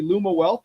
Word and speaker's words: Lumiwealth: Pronouncing it correctly. Lumawealth, right?